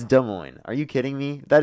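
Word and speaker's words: Des Moines: De Moine is how you say it.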